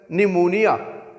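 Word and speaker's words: pneumonia: इसके बाद viewers P एन जब आएगा, मतलब कि एन से पहले पी होगा तो वो साइलेंट होगा, और एन जो नून है उसकी प्रोनाउंसिएशन आपको देगी, मसलन निमोनिया, इसमें ये पी साइलेंट है, निमोनिया।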